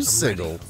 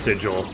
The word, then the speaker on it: sigil: the record viewers uh I do know it's pronounced sigil it's a a little bit of an inside joke yes sigle sigle all